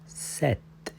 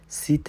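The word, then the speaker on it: sept: आगे चलिए, संक सिंक नहीं बोलना, संक के आगे है सिस आगे सेट सीत नहीं इसको बोलेंगे, इसको सेट आगे जी वित नेफ दिस सीन की आवाज़ दिस।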